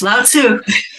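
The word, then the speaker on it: Lao: the towel of inner peace and I can't pronounce these names but the legendary Sage was it Lau oh you got it yes Lau all right well let let's talk about that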